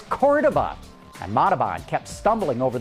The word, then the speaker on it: Cordoba: the chrysler ads because the proper spanish pronunciation of cordoba is cordova and matabon kept stumbling